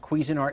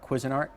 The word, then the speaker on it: Cuisinart: me the other day it's pronounced cuisinart not quizzing art i didn't know i